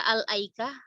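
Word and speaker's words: الأيكة: Pilihan maksudnya boleh kita baca al-aikah, boleh kita nggak baca juga hamzahnya, boleh kita baca laikah, gitu.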